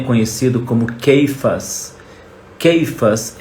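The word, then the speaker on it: Cefas: gente lê na Bíblia ceifas né muita gente ler na Bíblia e disse ceifas que é Pedro a pronúncia não é ceifas a pronúncia em hebraico é keifas e que é quase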